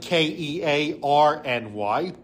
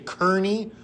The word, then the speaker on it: Kearny: People say Kearny, but it is pronounced Kearny. That comes from the Irish, that E-A-R making an R sound.